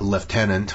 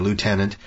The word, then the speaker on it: lieutenant: a little relationship with a liutenant or as the Americans say a lieutenant Karly Brandt who's played